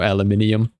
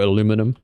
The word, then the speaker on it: aluminium: Like, there's no lead in here, there's no tin, there's no aluminium, or aluminum.